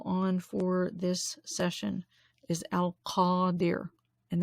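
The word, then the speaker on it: Al-Qadir: for this session is al khadir and that's spelled the transliteration with a q a d i r paw dear because the is a little bit farther back in the throat deer al qaddir which is the powerful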